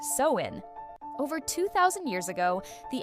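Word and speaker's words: Samhain: When the veil was thin, long before Halloween had candy or costumes, there was Sam Hine, pronounced sewin.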